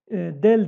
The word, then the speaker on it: del: Bu ters üçgen del diye okunuyor.